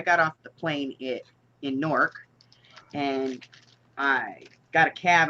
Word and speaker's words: Newark: There's 2 syllables there, though, right? Sure. I'm only hearing 1 syllable coming from you.